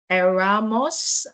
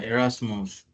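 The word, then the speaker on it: Erasmus: also is there room for them in the Aramos I want to believe I'm pronouncing that correctly uh Arasmos Arasmos right Okay, good stuff.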